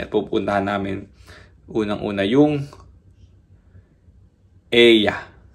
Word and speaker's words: Oia: Sweet boat na yun na papunta sa Santorini at pupuntahan namin unang-una yung Eya. Eya ang pronunciation pero ang spelling niya o I a ba iba yung mga pronunciation nila dito eh.